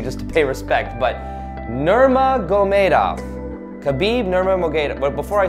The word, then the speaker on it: Nurmagomedov: Conor McGregor versus Khabib Nurmagomedov. Nurmagomedov. I've been trying for a while to say it correctly just to pay respect, but Nurmagomedov.